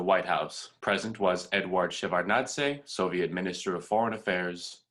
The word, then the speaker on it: Shevardnadze: Could I just very quickly, how do you pronounce the last name? Let's Schultz or Shevardnadze? That one, Shevardnadze.